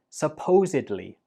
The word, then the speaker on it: supposedly: We pronounce this as supposedly. Supposedly. Altogether, supposedly. And there are 2 important things you should know. The stress goes on the second syllable, supposedly, and at the end, we do not pronounce it like bli.